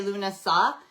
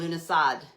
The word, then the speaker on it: Lughnasadh: Some pe people say luna sa and some people pronounce the d at the end lunad but it's basically the Irish or Celtic word for um August.